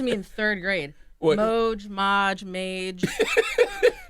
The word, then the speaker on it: Moj: Did I say that right? Moj. Moj. You said it right. Yeah, It's it's Moj? Moj. It's Moj. I thought it was Maj.